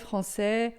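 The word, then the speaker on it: français: Eh, nacionalidades que você vê que terminam em A e S, vai ser sempre e japonês, francê, holandê e assim por diante, certo?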